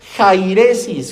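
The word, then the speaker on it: αἵρεσις: La palabra herejía procede del griego jairesis, con J y acento en la A.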